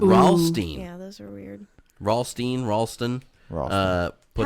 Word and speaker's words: Ralston: How is Ralstein? R.L. Stein cereal. It's literally R.L. Stein's cereal line, and you It's just fucking say it wrong. R-A-L-S-T-O-N. It's Ralston.